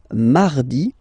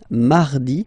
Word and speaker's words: mardi: Then mardi, mardi. So you can hear that you don't pronounce it that strongly, this R. Mardi, mardi, okay? You don't need to go too deep like mardi.